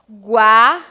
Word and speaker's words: guaraná: foguete e águia certo uma coisa interessante que eu quero que vocês Observe vem na pronúncia escuta-se o som da vogal u quanto eu pronuncio quar que eu digo ao guaraná então escuta se a pronúncia do u já quando eu falo que houve a gente não escuta a vogal a durante a pronúncia foguete águia mais uma